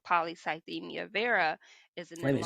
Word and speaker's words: polycythemia vera: So one of the symptoms of the disease that I was diagnosed with, which is called polycythemia vera, is an Wait a minute, say that enlarged again, kind of slower.